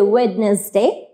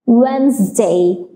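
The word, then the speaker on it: Wednesday: আমরা যেটাকে অলওয়েজ বলি ওয়েডনেসডে ওয়েডনেসডে এটা হচ্ছে একটা ভুল pronunciation the pronunciation will be ওয়েনসডে ওয়েনসডে সো এখানে আমি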